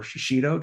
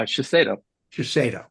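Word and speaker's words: Shiseido: here Michael is VP Global total rewards for shashido did I pronounce that correctly uh shaso Cho okay I'll get it right the second time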